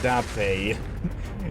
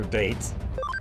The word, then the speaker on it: Date: Marco, it's pronounced Dape. Da like you're saying yes in Russian and Tay like Tato. I know, but I still like to just call her Date.